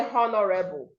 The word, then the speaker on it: honorable: You wouldn't say honorable. You should say honorable, honorable. Notice also, I didn't say honorable. The last sound here is L, and it must be articulated. You must say it. Honorable, honorable, not honorable. Next is listen.